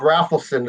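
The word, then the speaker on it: Rafelson: Yeah, they went to auditions to join this band that was being created by Bob Raffleson. Is that how you say his name? Raffleson?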